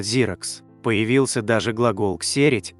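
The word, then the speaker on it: Xerox: на Советском рынке Кстати это название в оригинале произносится зиракс появился даже глагол ксерить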